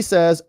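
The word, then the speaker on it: sow: the future will C says us sa is a female pig ow in sa is pronounced like saying ow when something hurts ow like cow like a sa with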